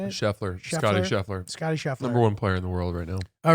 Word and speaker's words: Scheffler: But I was thinking about the Masters, and the guy who ended up winning was Schaefer. Is that how you say it? Scheffler.